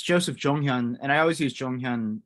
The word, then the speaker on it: Joseph Jonghyun: we'll call you Joe but perhaps you can pronounce your your name for us briefly uh it's uh well it's Joseph jonghyun and I always use jonghyun um because it